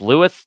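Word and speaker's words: Lewes: bay over in uh depending on where you're from it's either pronounced Lewis Delaware or or lose Delaware okay and that was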